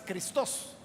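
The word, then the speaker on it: Χριστός: O sea, en griego no es Cristo, es Christos. Ahí lleva la fuerza en la segunda sílaba.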